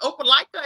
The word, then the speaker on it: Opelika: And I saw on your bio that it said, is it Opelika? Is that how you pronounce it?